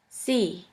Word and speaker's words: sie: The next letter combination is IE, which is simply pronounced like E. For this letter combination, we have the example of the word see, which means you. Oi, Europa, sie.